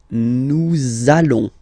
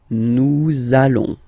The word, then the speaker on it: nous allons: link between the words, so it does mean that you will have to pronounce this z sound, okay, listen to me, nous allons, nous allons. Okay, nous allons. That's it.